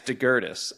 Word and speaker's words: Daugirdas: Yeah, it's DeGurtis. And I still can't like really remember that. Yeah, because it looks like Daugirdas or like.